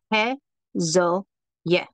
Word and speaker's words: Haziel: And so the way we say that is He-Zo-Yeh.